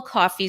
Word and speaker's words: Coffey: I was just warned by our producer, James Black, that I mispronounced. It's Paul Coffey.